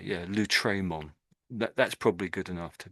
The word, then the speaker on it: Lautréamont: And I think he probably meant to say the A slightly louder. So Lautréamont, Lautréamont. I think that's how you pronounce that.